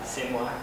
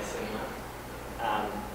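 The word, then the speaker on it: SNWA: It's pronounced, you can pronounce it Sinwa, S-N-W-A, Sinwa. But there is also another name for them. That is the headquarters of the Confederated Tribes of the Goshute Reservation. So Sinwa is in charge of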